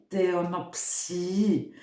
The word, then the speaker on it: Theonoptie: la vidéo de theonoptiie theonopsie mais ça s'écrit avec un T euh qui parle d'Hérode